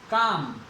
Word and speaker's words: calm: आ रही है, का, ले का उच्चारण नहीं हो रहा, काम, काम हो गया, WALK,